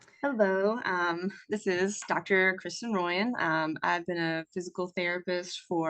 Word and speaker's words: Royen: It's Royen.